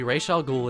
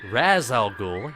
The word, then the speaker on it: Ra's al Ghul: In the movie, Ra's al Ghul is a title that is passed down, and